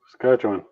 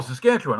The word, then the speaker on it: Saskatchewan: Saskatchewan. Oh, Saskatchewan. Okay. All right. I'm surprised you said it right.